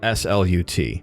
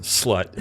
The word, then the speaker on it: slut: So the Swedish word for, I think, end or final is it's spelled S-L-U-T, and I believe it's pronounced slut. Okay. But obviously it looks like slut.